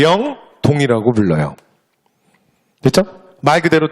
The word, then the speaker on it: 영동: 그지 우리가 뭐라 그래 2 법칙 이라고 하잖아요 그래서 우리는 발음을 영동 영서 라고 발음하지 그 다음에 택 완력에